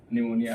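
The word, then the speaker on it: pneumonia: निमोनिया देखेंगे ठीक है निमोनिया आप देखिए सिंपल से इसको निमोनिया पढ़ेंगे पीस आइलैंड है यहां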